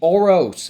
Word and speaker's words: Oros: that's out this week is going to be oros by Ash games that's how you pronounce that Ash Ash games auros culture session